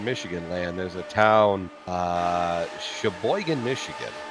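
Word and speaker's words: Cheboygan: There's a town, Sheboygan, Michigan. Spelled with a Sheboygan. CH, and I know it's got a sister over there in Wisconsin, SH. Yes. But CH, Sheboygan, Michigan, known for its sweet corn in the northern Michigan area.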